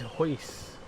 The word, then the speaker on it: huis: A home in Dutch is huis, so the UI is in this word. Oh, the pronunciation. Okay, the you huis, oi. We like an oi sound.